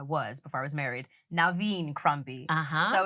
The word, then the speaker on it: Noveen: name yes so um I'm actually Jamaican so my name is actually pronounced Naveen it's my mom's name